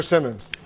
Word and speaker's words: Simons: Uh uh it's Simons or Simmons? It's Simons. Wolf.